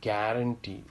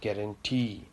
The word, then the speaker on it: guarantee: Okay, and then words which end with ee or oo, these ee and oo are pronounced more, like guarantee. It's not guarantee, it's guarantee. Shampoo, it's not shampoo, it's shampoo.